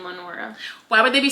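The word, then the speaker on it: Lenore: go see my baby how did you pronounce her name uh his girlfriend Lenor do Lenor I was picturing Lenora where was the a I put it there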